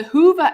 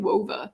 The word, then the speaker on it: Whova: If you don't want it to, if you don't want me to pronounce that W, why'd you put it there? Just have the H.